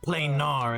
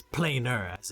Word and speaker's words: planar: correctly though it's not plain nor it's planar and there are there are other scientific names that use PLA and AR and it's it's not plain are it's planar exactly and that's what